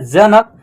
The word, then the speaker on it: जनक: देखिए जे ए से ज होगा, एन ए से न, और के से क का उच्चारण लास्ट में क्या होगा, आधा हो जाएगा, ठीक है ना, जनक। देख रहे हैं ना, उच्चारण इसका लास्ट में आधा हो रहा है, क का, जनक, ऐसे हो रहा है, ठीक है।